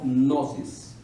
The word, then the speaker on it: gnosis: La palabra ciencia viene de una palabra griega que quiere decir, la pronuncio como la leo, gnosis, con G al principio, la gnosis, o en latín scientia, que son palabras que lo único que quieren decir es conocimiento.